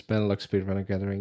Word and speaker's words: Benelux Speedrunner Gathering: Live, which I might pronounce this wrong, Benelux Speedrunner Gathering, Yes. It's Benelux Speedrunner Gathering.